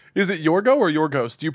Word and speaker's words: Yorgos: Soft Y or Gos.